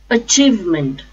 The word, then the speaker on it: achievement: count accountant count accountant achievement achievement a chief meant the stress is on second syllable chief achievement achievement acknowledge acknowledge stresses again